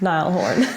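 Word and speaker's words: Niall Horan: the year nail horin I believe it's pronounced Nile Horn yeah good very good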